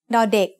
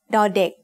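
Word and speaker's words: ด: consonant of a syllable dardik makes the sound the just like the letter d in diamond now they also makes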